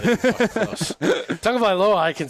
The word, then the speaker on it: Tagovailoa: Tagovailoa, I can say.